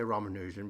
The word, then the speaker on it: Ramanujan: I now say Ramanujan because that's the way they pronounce it in the film.